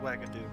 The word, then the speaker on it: Wagadu: Oh, it is pronounced Wagadu.